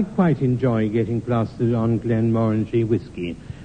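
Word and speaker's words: Glenmorangie: enjoy getting plastered on Glenn morange whiskey which in the south is pronounced moranji where she sort of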